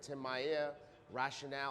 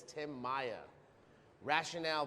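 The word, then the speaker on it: Tim Maia Racional: this book right here Tim Maya rationale I just said it wrong Tim Maya rationale I'm so used to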